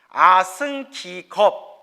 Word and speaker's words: 아승기겁: 시간에 아승 라고 해요 아승기겁 아승기겁이라고도 부르고요 아승 직업이라고도 불러요 그 발음상의 차이예요 그래서 우주가 세 번